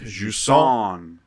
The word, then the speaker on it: Jusant: on Halloween, is Jusant, which is actually the T is silent. Jusant. I don't care. French bullshit. Hey, I took 2 full years of French, cheated my way through almost all of it, but I do know it would be pronounced Jusant.